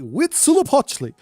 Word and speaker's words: Huitzilopochtli: Huitzilopochtli.